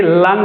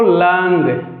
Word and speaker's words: लङ्: दूसरा देखो, दूसरा आप लोग हेडिंग दीजिए लंग लकार। क्या पढ़ते हैं इसको? लंग। क्या पढ़ते हैं? लंग। 4 बार उच्चारण करिए, लंग यानी भूतकाल।